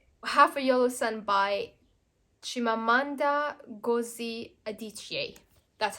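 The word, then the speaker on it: Chimamanda Ngozi Adichie: into a movie half a Yellow Sun by chimamanda gozi adichie that's how you pronounce her name this one I think is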